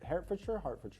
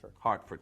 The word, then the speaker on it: Hartford: Herford. Hartford.